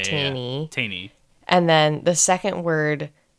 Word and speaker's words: Teini: Because the first word, I told myself it rhymes with like pain or obtain. So Yeah. Taney.